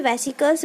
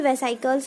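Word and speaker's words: vesicles: ठीक है, हम लोग इसे वेसिकल्स बोलते हैं कॉमनली, और कई लोग इसे वेसाइकल्स भी बोलते हैं.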